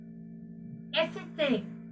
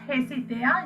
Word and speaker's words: hésiter: Hésiter. It is not hésiter. You are not pronouncing H.